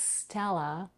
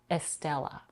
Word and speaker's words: Stella: to some speakers but make sure not to add any vowel before it it's Stella and not Estella then we have a and a single sound it's not Stella but Stella even though it's spelled with a double L polish and Italian speakers